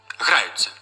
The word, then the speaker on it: граються: дуже часто приклад ця граються хоча закінчення ця має чотири букви але лише два звуки ц плюс а загальному слову граються ще